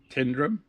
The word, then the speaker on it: Tyndrum: It's by the way in Tyndrum or Tyndrum. It's spelled T-Y, but I think they say T-I, Tyndrum, on the West Island Way.